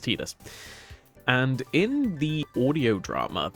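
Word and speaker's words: Tidus: Um so they do pronounce it Tetus.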